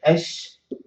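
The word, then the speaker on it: الشجر: The people manage, or people in the generation say, okay, why don't I just stop that lam and put shadda? I say ash-shajar. So instead, I can pronounce it this way, ash-shajar.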